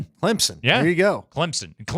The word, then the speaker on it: Clemson: Didn't they just upset who they Clemson? There you go. Clemson. Clemson. Clemson. Clemson. There's a P in there even though you don't see it.